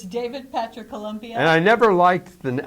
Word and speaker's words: Columbia: to meet David Patrick Columbia you call him Campbell and actually that's how I met the people at the party because I said your name wrong they're like Columbia Colombia because I want there's is a singer